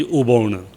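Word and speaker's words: อุบล: Uppala, that is the lotus. Thai word is Uppala, but pronunciation is Ubon.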